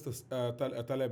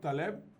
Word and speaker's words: Taleb: There's a debate between Daniel Kahneman and Nicholas Taleb, actually.